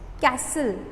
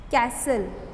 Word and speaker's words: castle: Castle. Castle. Just underline T in this word.